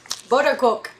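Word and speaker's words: Boterkoek: Buttercook. Buttercook. Buttercook. It's spelled B-O with an accent, T-E-R, and then K-O-E-K.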